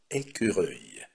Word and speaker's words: écureuil: Avec la terminaison «e», «u» и «l», следующее существительное с окончанием «e», «u» и «l», которое произносится как «œil», c'est le mot «écureuil».